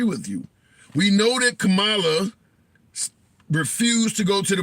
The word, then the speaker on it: Kamala: Okay, so not Kamala, Kamala. All right. Give me some time. I say it right sometime.